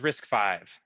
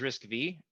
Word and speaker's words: RISC-V: more so what is risk five um when you read it it says risk v but it's actually pronounced risk five it's the fifth iteration